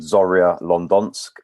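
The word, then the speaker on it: Zorya London: the social media sites and website uh called zarya london it's named after the team zorri lehansk but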